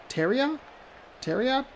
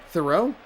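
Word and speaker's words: Theriot: Ryan Terriot? Nope, that's how I always say it wrong. Thoreau?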